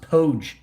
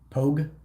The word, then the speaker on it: POG: other than grunt non-infant free pronounced poge okay pogue pogue not pretty ass white